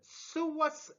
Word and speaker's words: psoas: The first one related to the back of the medial third, which is called psoas major. Always remember that the B is silent.